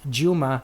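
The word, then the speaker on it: Djuma: Elmore she went with I guess this is pronounced Juma South Africa d-j-u-m-a we have Lisa's from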